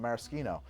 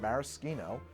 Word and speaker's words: maraschino: As far as I know, bartenders that I have met use the word maraschino when we're talking about the liqueur or the imported cherries, because that's the Italian pronunciation, right? And if you say maraschino, it's understood to be